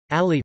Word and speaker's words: Ali: Ali, pronounced Ali, the 15th of September